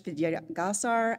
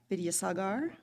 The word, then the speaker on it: Vidyasagar: Today's reader is Vidyasagar, and nope, I mispronounced that, Vidyasagar, thank you, who is a fellow officiant and a member of the Leaders Collaborative Advisory Team, or LCAT.